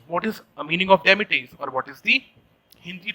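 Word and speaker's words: demitasse: t a s what is a meaning of demetrius or what is the hindi translation of demetrius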